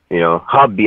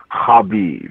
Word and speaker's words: Khabib: I want to see Khabib. Hubby. I'm sorry, I said K. To take this, the K is silent, Apollo.